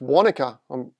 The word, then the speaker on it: Wanaka: Pronounced Wanaka.